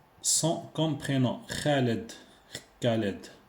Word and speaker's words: Khaled: Donc, aucune accent sans comme prénom Khaled. Kaled. En français, on dit Kaled. On ne prononce pas le H en français, Kaled directement. Mais par contre en arabe on dit khaled.